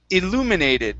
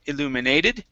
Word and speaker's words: illuminated: this word here is illuminated so our stress is right here instead of illuminated it's illuminated illuminated awesome very good um